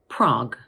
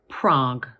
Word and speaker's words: Prague: Now, this word has only one syllable because the letters U and E at the end of the word are silent. So in British English, we pronounce it Prague.